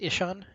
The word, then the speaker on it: Ishan: uh i sean ishan it's not anything backwards it's just ishan ishan is playing galio